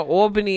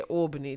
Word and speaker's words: Albany: Albany.